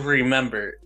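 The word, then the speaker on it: Re/Member: dub so it's in English but it's called remember but it's spelled r e slash m e m b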